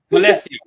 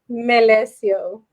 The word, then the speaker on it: Melecio: Melecio. Melecio.